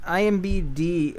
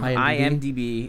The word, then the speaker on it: IMDb: such fun movies um I got an IMBD uh yeah I say it wrong every time IMDb it got um 118